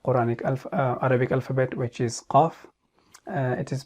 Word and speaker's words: Qaaf: Articulation point is it is one of the lisan throat tongue letters, and it is pronounced from the deepest part of the tongue, which is next to the throat, and what lies opposite to it of the mouth, that is opposite soft palate.